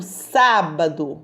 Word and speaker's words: sábado: é com acento circunflexo no sábado sábado olhos a saiu mais forte e com som aberto então a vai receber